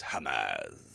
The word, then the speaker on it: Hamas: Well, Ollie, first of all, it's pronounced Hamas.